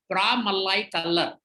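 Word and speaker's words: Pramalai Kallar: और ये सब जो किया, वहाँ एक कास्ट था, उसका नाम है प्रामल्लाई कल्लर, जैसे बोला वैसे ही प्रोनाउंसिएशन है, PRA, मल्लाई MALLAI, कल्लर KALLAR।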